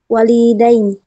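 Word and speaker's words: والدين: Walidain. Bacanya gimana? Yang panjang wanya bukan linya. Walidain.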